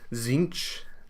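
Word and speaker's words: Tzeentch: it comes to warhammer doesn't really matter if you pronounce zinch with a t or if you pronounce demon as diamond or daemon honestly it just depends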